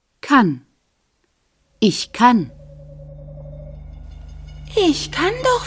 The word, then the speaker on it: kann: In the singular, the vowel is an A, pronounced here a. Kann.